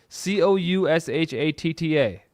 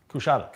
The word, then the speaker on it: Coushatta: Okay, it looks like that C kid, C O U S H A T T A. That's it. How do we pronounce that? Coushatta. Coushatta.